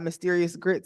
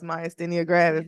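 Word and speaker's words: myasthenia gravis: have and a lot of people can't even pronounce it they're like you got mysterious grits I'm like no it's myia grab is like so yeah is this your first conference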